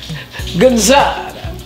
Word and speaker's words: Gazzara: Now, Lou, Gazzara.